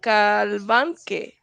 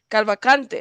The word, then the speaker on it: Cavalcante: Danelo, what is it? Calvanque? Calvacante. That's how you say his last name.